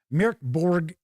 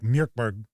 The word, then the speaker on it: MÖRK BORG: I think it's more like MÖRK BORG. It's supposed to be kind of said kind of maybe quickly.